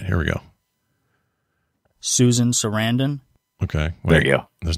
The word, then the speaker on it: Sarandon: I didn't realize that uh he and Susan Sarandon didn't didn't get married that they were uh